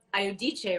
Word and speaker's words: Iodice: is my dear friend candida aiodice right is that how you say it yeah italian you can't get much more italian than that right um okay so